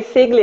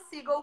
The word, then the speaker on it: Siegle: Como se pronuncia o teu sobrenome, que eu falei Sigli, é isso? Falou certo, única pessoa no universo. Ah. Certo de primeira. Eu falo Sigel porque eu acho mais artístico, tá?